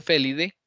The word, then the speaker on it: Felidae: Que se pronuncia Felidae, entonces va en mayúscula.